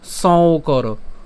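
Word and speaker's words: সঙ্কর: কেন সং করো? কারণ এখানে আমাদের একটা যুক্তবর্ণ আছে উঁ এবং হচ্ছে ক।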